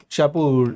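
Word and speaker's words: Shapur: का second roller है जिसका नाम है शाहपुर शाहपुर इस तरह से करके इसको प्रोनाउंस करते हैं इसने इसका एक फेमस इनस्क्रिप्शन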